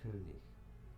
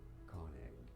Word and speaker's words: König: In German, it is pronounced as König. König. König. König. König. In English, it's normally pronounced as Konig.